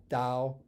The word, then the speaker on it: Tao: a d that you that initial T you pronounce as a d even in the way